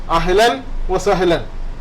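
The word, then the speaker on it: أهلاً وسهلاً: എന്ന പദത്തിന് തുല്യമാണ് പിന്നെ അതുകൊണ്ട് അഹ്ലൻ വ സഹലൻ വസഹ്ലൻ എന്ന ഒറ്റ വാക്കല്ല വ സഹലൻ അഹ്ലൻ വ സഹ്ലൻ അഹ്ലൻ വ സഹ്ലൻ എന്നാ പറയുക അപ്പൊ രണ്ടു രൂപത്തിലും നമുക്ക്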